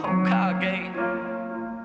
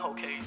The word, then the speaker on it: Hokage: I got it like that, Status of Hokage, pronouncing it right, Hokage, not Hokage.